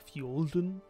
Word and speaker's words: Fulden: No, I'm calling number 3 Fulden. Or that's how I'm pronouncing it, but it would be pronounced by the locals like Fjolden.